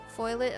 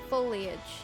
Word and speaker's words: foliage: might cut away foliage foil it oh no then i say it wrong again foliage there we go brown